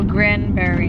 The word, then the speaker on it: Granbury: Granbury. Granbury. Like Grand Prairie, but Granbury.